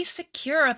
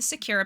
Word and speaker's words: Sakura: A lot of people were saying that um I was pronouncing it wrong and they were getting quite mad. Um, but I'm going to say it how I say it. The Sakura palette.